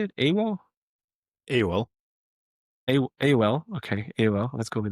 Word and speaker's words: AOL: Next, we have Awol. Is that how you say it? Awol. AOL. A AOL.